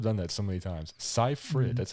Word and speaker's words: Seyfried: Seyfried. Mm-hmm. That's how you say your last name? Seyfried.